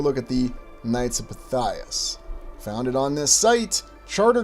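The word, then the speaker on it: Pythias: Or is it Knights of Pytheus? No, no, it's Knights of Pias, but interesting also considering pronunciations.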